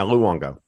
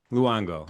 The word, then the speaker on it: Luongo: Uh uh Luango. did I pronounce that correctly? Yeah. Luango. Luango.